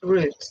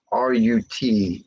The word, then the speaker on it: Rut: Even though her name is spelled R-U-T, it's like root of the tree. So, Not the rut of the tree, yeah, not the rut.